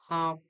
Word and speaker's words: half: L is silent in palm, calm, half and all.